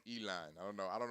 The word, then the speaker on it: Elon: yeah your boy Elon that is how you pronounce his name Elon I don't know I